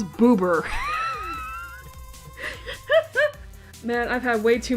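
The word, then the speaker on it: ブーバー: name is I you not booba booa I mean granted that's just how the Japanese pronounce it it's pronounced boober man I've had way too much of this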